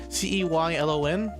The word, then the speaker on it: Ceylon: Originally in a country called I'm gonna pronounce this wrong, but it's Kailan or Ceylan. It's Ceylon.